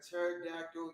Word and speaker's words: pterodactyl: you never heard a pterodactyl use the restroom why why because the p is silent wow oh man all